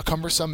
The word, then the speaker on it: cumbersome: described as cumbersome uh cumbersome is an adjective the first uh syllable has the accent mark it means clumsy or